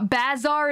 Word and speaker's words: bazaar: playlist let's go backwards bizarre bazaar is pronounced the same as bizarre by the way wyvern